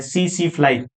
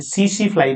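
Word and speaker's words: tsetse fly: इसका वाहक होता है सीसी फ्लाई। ध्यान रखना इसकी स्पेलिंग अलग है, टीएससी फ्लाई, लेकिन स्पेलिंग अलग है, उच्चारण हमें इसे सीसी फ्लाई बोलना है, सीसी फ्लाई।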